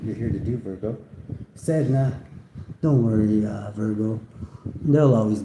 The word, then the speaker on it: Sedna: Pronounced Sedna is the sea deity of the Inuit people.